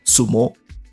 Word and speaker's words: sumo: As it turned out, Yan Qing was quite proficient in wrestling and won a Xiangpu contest, pronounced in Japanese as sumo.